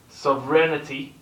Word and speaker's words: sovereignty: So is it sovereignty? It changes it. Sovereign, sovereignty. Changes the pronunciation slightly.